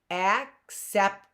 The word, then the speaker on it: acceptance: cake the next word acceptance acceptance that word has a hard C act and then the next C is a soft cep acceptance three steps if I